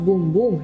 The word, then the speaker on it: Bum Bum: Pronounced boom boom in Portuguese, was designed to offer your assets the very best in daily care.